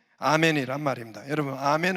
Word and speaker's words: 아멘: 되어질 줄로 믿습니다 할렐루야 근데 이거 아멘 을 영어로 읽으면 안 돼요 원래는 영어발음 하면 안되는 밤에 a 맨 이라고 해서 아멘 은 원래 구약 성경을 쓴 히브리어 란 말입니다 거기에서 어떠한 그 말인 온 말인데 에 그걸 영어로 해보니까 a 매너로 된 거예요 그 a man